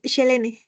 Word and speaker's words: Selene: Eh, tu nombre se pronuncia así, ¿no? Selene es Shelene.